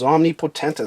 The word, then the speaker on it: Omnipotentus: Yes, I understand that's how you pronounce omnipotent, but when you add the IS on the end, it becomes omnipotentus, so that's how I say it.